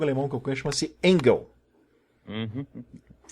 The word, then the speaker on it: Engel: Tem um jogo alemão que eu conheço, chama-se Engel. Uhum.